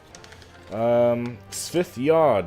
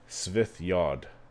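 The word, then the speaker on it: Svith-yod: Svithyod is how you say this. Svith, S-V-I-T-H hyphen Y-O-D. Svithyod. That's the proper pronunciation.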